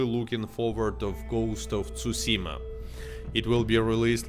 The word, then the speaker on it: Tsushima: Tsushima, like, like that you need to pronounce it.